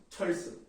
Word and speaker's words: 철수: 철수. 안녕하십니까? 한철수입니다. 자, 철수라고 발음하는 게 당연한 이유가 뭐예요? 한자어니까 리을 다음에 시옷 된 소리 하는 것이다.